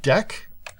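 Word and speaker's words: deque: array and it looks like DQ is actually pronounced deck and specify it's a string and I can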